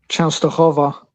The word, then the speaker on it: Częstochowa: Częstochowa? Częstochowa.